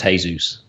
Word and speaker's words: Jesus: a guy after him called Jesus pronounced hey-zeus okay but I don't